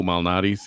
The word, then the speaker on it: Malnati's: That's what the I think the best place is Lou Malnati's which is Chicago. You actually pronounced it right.